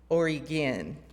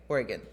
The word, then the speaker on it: Oregon: heard Portland Maine nope other Portland and it's pronounced Portland Oregon by the way Oregon like gy anyway so at first Plymouth was